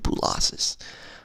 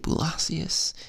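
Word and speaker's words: Boolossus: the word blue losses I was like is it Blasius is hypnosis is it losses you know how do you say it and then I figured it out from YouTube a couple years later you know that's the point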